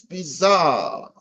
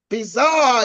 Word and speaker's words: bizarre: Okay, now this bizarre thing is bizarre is a word that is used in English, and it has its origins in the French language. Now, normally the French pronounce it differently. They say a situation is actually bizarre. They say a situation is bizarre to mean it's strange.